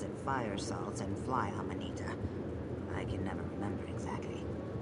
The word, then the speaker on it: Amanita: Or was it fire salts and fly amanita? I can never remember exactly. Is that how you pronounce that? I've always called it Amantia for some reason. Amanita.